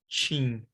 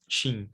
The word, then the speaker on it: TIM: So, for example, telephone company TIM, we pronounce it chin, chin. We don't say chin, right?